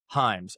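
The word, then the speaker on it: Hyams: It's spelled H Y A M S. I don't eat them. I don't like them. It's the spelling of my name. Hyms.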